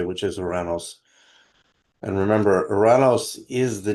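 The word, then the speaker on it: Ouranos: I pronounce it the Greek way which is Oranos.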